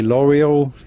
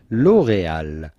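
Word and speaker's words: L'Oréal: but rather love love then of course you'd say l'oreal in english which is probably fine but if you want to pronounce it the typical french classy way l'oreal laurel l'oreal hollow note the little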